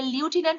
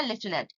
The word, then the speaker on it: lieutenant: এটা লিউটিন্যান্ট উচ্চারণ হবে না, লেফটেন্যান্ট।